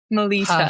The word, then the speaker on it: Melisa: So, I hope I actually pronounced your name right. You did. You got it. Melissa Melissa.